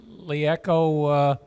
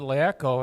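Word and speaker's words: LeEco: I'm pronouncing it Liaco. It may be different. I don't know. It's out. Oh, really? It's the Capital L, E, capital ECO. So I Lico also.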